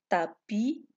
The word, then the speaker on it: tapis: la même famille exemple tapis tapisseries alors dans le mot tapis ou ne prononce pas le s mais quand on donne un mot de famille tapisserie on découvre qu'il y